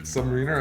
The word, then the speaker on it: Submariner: i'm not very cultured i uh mispronounced the rolex last time right it's submariner i don't know it's submarine submariner i'm gonna wear that